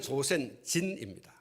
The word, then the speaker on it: 조센진: 우리 발음할 때 조센징이라고 발음을 하는데 본래는 조센진입니다.